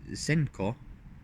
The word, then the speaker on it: Senko: In tandem passes, the lead driver in the lead car, Senko, which is how they say it in Japan, often feints their entry.